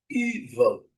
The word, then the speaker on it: evil: A primeira sílaba é a letra e que é pronunciada como um I bem longo. Evil.